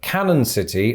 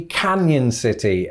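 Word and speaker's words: Cañon City: into a kind of it gives it a y sound right so i think instead of canon city or canon city it's gonna be canyon city and this is a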